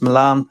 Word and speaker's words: Milan: So yeah, my name is Milan. Yeah, and you said it right.